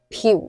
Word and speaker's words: 朴: 咁我哋呢邊一般會讀朴姓，但係港澳灣灣嗰邊就會讀成樸姓，譬如話朴槿惠。